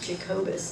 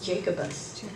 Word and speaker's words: Jacobus: And I know my husband, I had to correct him, I don't know how many times, it's Jacobus, not Jacobus. He was pronouncing it phonetically.